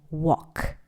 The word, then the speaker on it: walk: En esta lección aprenderemos a walk o caminar y go o ir a varios lugares. Caminar se pronuncia como walk, la A se pronuncia como O y la L es muda.